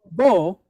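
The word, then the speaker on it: בו: So it's actually, if we were to break it apart, it's ba o. But we see it, it's going to be pronounced as bo, right?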